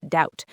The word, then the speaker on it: doubt: Same for climb, bomb, and the word doubt. The B is just along for the ride.